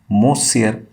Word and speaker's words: monsieur: person by mr mosia n is silent so you can pronounce it as monsieur hamel had said that